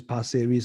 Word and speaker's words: Pasir Ris: Yeah, so it's Pasir Ris, not Paris. I want to go Paris really. Yeah. Pasir Ris 8, Pasir Ris condo. Okay, so Pasir Ris 8, guys.